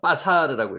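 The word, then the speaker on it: בָּשָׂר: 요게 빠가 여기가 강하게 발음을 읽으면 빠사르라고 있습니다.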